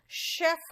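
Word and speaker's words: chef: आप कहोगे मैम यहाँ पे शेफ कहा आपने, तो शेफ में श साउंड कैसे आ गया, सी का साउंड और एच का साउंड, ज कैसे हो गया, श कैसे हो गया?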